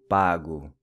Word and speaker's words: pago: In Portuguese, it's eu pago. Notice how the O in Portuguese is pronounced with a U sound.